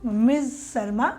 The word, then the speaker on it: Ms: शर्मा स स को हम मिसेस मिस नहीं प्रोनाउंस करते हैं हम इसको मिस शर्मा प्रोनाउंस करेंगे किसी भी लेडी के लिए अगर हम लिख रहे हैं तो उसके लिए हम एमएस मिस ये साउंड करता है तो गुड मॉर्निंग